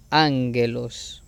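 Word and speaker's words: ἄγγελος: capa y la xi, cambia su sonido a ng, como en ángulo. Ejemplo, la palabra ángelos se pronuncia ángelos, como lo tenemos ahí.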